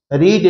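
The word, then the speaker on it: read: रीड रीड रीड भी बोल सकते हो उसको, नहीं तो रीड रेड रेड बोलते हैं हम। Which book had यू रेड, ताकि आप कंफ्यूज न करें, स्पेलिंग वही रहेंगी।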